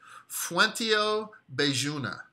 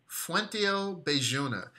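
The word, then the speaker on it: Fuenteovejuna: And it's actually, I pronounce it Bejuna, but it's with a V, but it sounds too much like vagina. But it is pronounced as the B. Fuentio Bejuna, right?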